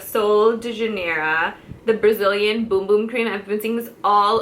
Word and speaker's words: Bum Bum: de Janeiro the Brazilian boom boom cream have been things all over Sephora so on first glance everyone thinks it's the Brazilian bum bum cream but it's called boom boom it's pronounced and it